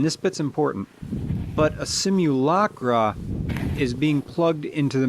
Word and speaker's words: simulacra: simulation versus simulacra and I'm pronouncing simulacra using the British pronunciation because of the mall